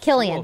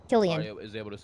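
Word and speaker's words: Cillian: Killian Killian it's pronounced kilan that's right Killian Killian but spelled with a c it's very confusing for me kill Ian kill Ian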